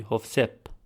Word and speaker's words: Hovsep: And if you recall from the first video, the F sound, such as in the name Joseph, in Armenian would be Hovsep.